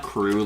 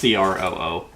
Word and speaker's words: Croo: Oh, by the way, it's not crew like CREW. Mm-hmm. How would you think it's spelled? Is it crew like it looks like it's French? No, it's not CREUEUEU. No, I was thinking CRUIEOUX. No, it's CROO.